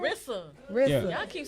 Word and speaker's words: Rissa: it Rizza? Did I say it right? Rissa.